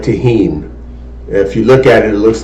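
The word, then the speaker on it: Tajín: it um I like tah Heen if you look at it it looks like it's spelled Tajin t a j i n um but it's pronounced tahen it's kind of reddish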